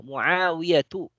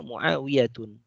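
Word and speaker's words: معاوية: Ya, Muawiyatu, ya. Tidak boleh membacanya Muawiyatun, ya.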